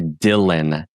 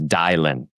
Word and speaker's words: Dylan: Because your name is actually Dylan and they're mispronouncing it as Dialin.